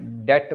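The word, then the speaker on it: debt: आता है पब्लिक डेप्ट डेट B silent होता है जब बोलते हैं इसमें डेट बोला जाता है बी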